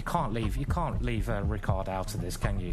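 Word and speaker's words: Richárd: match between Rickard reports I call Richard I call him I call him Richie that's his nickname Richie as well I don't know but Rickard is the correct pronunciation he's playing against Duda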